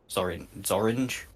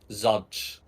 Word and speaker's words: Zodge: Zorange? Zodge Zodge. rhymes with dodge.